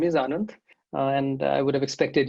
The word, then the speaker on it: Anand: said exactly rightly i mean my name is anand and i would have expected you to pronounce it perfectly correctly and there was no